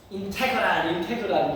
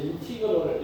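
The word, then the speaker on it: integral: 근데 이제 선생님 학교 갈 때는 수학 선생님들이 발음이 인테그랄 이렇게 읽었는데 독일어 적은데 인티그럴을 이렇게 하고 어디서 어디까지를 하냐면 0에서 1까지잖아.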